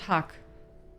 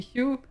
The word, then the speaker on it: Hugh: How do you say his name? It's not Huck. Hugh? Hugh? Okay, Hugh.